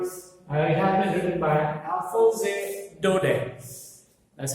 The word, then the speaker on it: Alphonse Daudet: The last lesson, as you can see on the board, it has been written by Alphonse Daudet. That's how we pronounce the name. French name है ये, Alphonse Daudet.